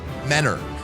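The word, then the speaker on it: Mentor: And yes, here in Ohio we pronounce that word menor.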